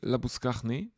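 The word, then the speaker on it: Labuschagne: um Manos labus um and I can say laus because uh he himself pronounces his name that way and Yas J ball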